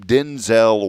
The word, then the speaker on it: Denzel: Well, he told Jimmy Kimmel recently that his name is not pronounced Denzel. Everyone's been saying it wrong. He straight up told him, he goes, "My name is pronounced Denzel." Denzel. Denzil L is how you pronounce it.